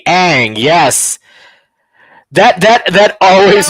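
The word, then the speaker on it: Aang: her name yeah Chad how did they pronounce Ang wrong they pronounced it on on yeah but was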